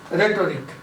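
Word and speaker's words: rhetoric: देखो, पहला वर्ड्स मैं ले लेता हूँ रेटोरिक। इसको एच नहीं बोला जाएगा, प्रोनाउंसिएशन आप बोल लेना।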